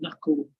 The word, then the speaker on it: knuckle: Now, a nice little phrasal verb here is to knuckle down. To knuckle down. Hard to pronounce, I know. No, fun to pronounce. Knuckle. Cull. It's the dark L.